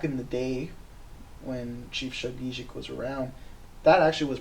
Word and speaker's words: Shabogesic: and now it's pronounced Shabogesic. And so the first sound in there is a zh sound. It's like a white noise sound, or in the word Asia.